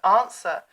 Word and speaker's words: answer: To swear, to promise an oath, and is etymologically related to the word answer, which is why it has that awkward silent W in it.